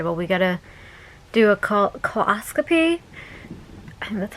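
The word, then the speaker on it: colposcopy: And that annual came back abnormal, and they're like, okay, well, we gotta do a coloscopy. That's how it's pronounced.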